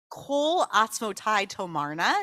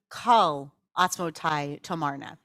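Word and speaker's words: כל עצמותי תאמרנה: In Nishmat Kol Chai, we say Kol Atzmotai Tomarna. That's usually how we pronounce it. It comes from Tehillim, Kol Atzmotai Tomarna. But some people claim that the pronunciation of this line should be Kal Atzmotai Tomarna.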